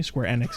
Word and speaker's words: Square Enix: Square Enix is technically how it's pronounced.